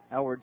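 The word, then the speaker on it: Eylward: ball and no strikes edward spelled e y l w a r d way it's pronounced the y might as well not even be there the one up bringing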